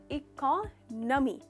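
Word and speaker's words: economy: Generally लोग कहते हैं इकोनॉमी, पर इसका करेक्ट प्रोनाउंसिएशन है इकोनॉमी। तो नो नहीं है, न है।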